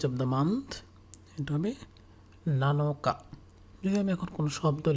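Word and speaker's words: 七日: 7 things এর ক্ষেত্রে উচ্চারণটা হবে নানাৎসু। তারপর যদি হয় 7th days of the month, তাহলে এটা হবে নানোকা, নানোকা।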